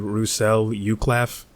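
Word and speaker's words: Roussel Uclaf: by French pharmaceutical company Russell uklaff or Russell you claf but I'm just going to use the English pronunciation Russell uclaf I'm not really going to get into the whole fancy Frenchy pronunciation so hopefully I don't offend any french viewers this was the second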